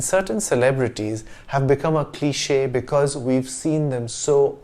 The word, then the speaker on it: cliché: It's because of this accent that we pronounce the word as cliché and not cliche.